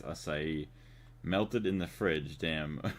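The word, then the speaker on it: açaí: I always used to think it was like a kai, but I think it's asai.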